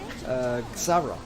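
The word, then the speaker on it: Xsara: can you help me out how to pronounce it? Xara.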